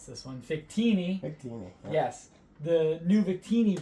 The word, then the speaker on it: Victini: So today, I was lucky enough to pick up the new, I always mispronounce this one, Victini. Victini.